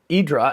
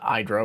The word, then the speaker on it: IDRA: sounds somewhat like uh idra and by the way i'm pronouncing this as europeans would say not hydra which would be the u.s way of saying it so anyway uh but